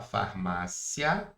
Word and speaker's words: farmácia: possível dessas palavras aqui, porque eu posso falar farmácia tudo junto, ou eu posso falar o quê? Eu posso falar farmacia a concordam comigo? Eu tenho essa outra possibilidade de pronúncia.